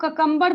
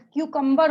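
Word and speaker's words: cucumber: ठीक है, सी, हम लोग ककम्बर बोलते हैं, सी ककम्बर्स, बट क्यूकम्बर होता है।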